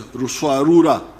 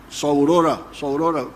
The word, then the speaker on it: Ruswarura: came to understand as Ruswarura. When you read, I think it is Speak, Understand, they write Saurora, but it didn't, they were mispronouncing the name.